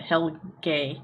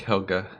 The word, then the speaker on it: Helga: But and I did want to just point out that we've been pronouncing Helga wrong. We've been saying it Helge. So it's more like Helga. But it's Helga.